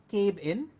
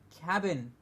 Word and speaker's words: cabin: word is Cuban no it's not Cape in its cabin CA be I n is pronounced as cabin cab now see a B